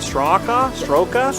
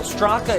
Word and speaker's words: Straka: So a great race there for, and I believe you mispronounced it for a reason, but Stroka? Well, Straka is the correct pronunciation.